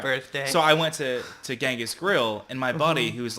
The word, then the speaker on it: Genghis: It's Genghis, dude. Like, Yeah. it's a G. We're in Yeah, America. yeah. So I Googled it, and the first 5 things on how to pronounce Genghis Khan is Genghis Khan. Yeah. And then I looked a little further, and it said, actually, it's a J.